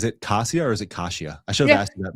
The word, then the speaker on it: Kasia: Cuz when you're Polish, when you're Polish, actually to say my name correctly in a Polish way, you need to smile and say Kasha, but no one can do it.